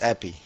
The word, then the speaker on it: Aps: How do you say your name? Yeah, in Dutch. Is it Appy? No, yeah, Appy? APS Appy. Appy. Okay, Yeah. perfect.